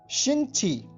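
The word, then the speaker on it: 星期: उससे पहले आप ध्यान रखिए, ये स्पेलिंग नोट कर लीजिए, XINGQI। एक बार फिर सुनिए, XINGQI। इसका अर्थ होता है शिंगची।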